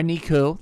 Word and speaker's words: Niku: Niko or Niku like I like to say. I like to pronounce the ooh out like an oo.